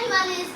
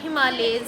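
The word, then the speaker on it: Himalayas: मैं हिमालयस की प्रोनाउंसिएशन सुन रही। अच्छा, हिमालयास, मैं कह रही थी हिमालयास माउंटेन रेंजेस, और हमदा कह रही थी हिमालयज है, तो फिर हिमालयज ही निकला।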